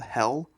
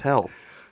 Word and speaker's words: Hel: a Norse goddess called I'm guessing this is called Hel because it's spelled Hel. So It's hell. Hell.